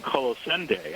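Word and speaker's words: Colossendeis: giant um sea spiders i've been calling them carlos and deus and one time i heard mary's um wixton call them colossende and apparently that's how you say is d-e-i-s is silent uh but you know who knows so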